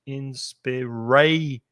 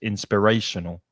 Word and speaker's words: inspirational: Inspiration. 5 syllables. Which one is stressed? Inspirational. The middle syllable is the strongest. Inspirational.